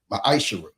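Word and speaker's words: מעשר: The book of Malachi 3:8-10 means 10th in Hebrew and is pronounced misher 10% of every penny of any increase the lord gives you.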